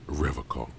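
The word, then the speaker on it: Revachol: He pronounces Revocol with a hard K, unlike other people. You said Revocol? I like to pronounce it the hard way. The old way. The Vespertine way.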